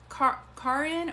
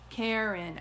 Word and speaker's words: Karen: saying your name right is it car in or do you just pronounce it Karen yeah thanks Jamie they're great Karen okay sorry about that